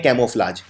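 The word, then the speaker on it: camouflage: बदलने को बोलते हैं कैमोफ्लाज। तो कैमोफ्लाज में आपको पहले लिखना है कैमो। अब कैमो में एक यू भी आता है, कैमो, ये प्रोनाउंस नहीं होता है लेकिन आता है।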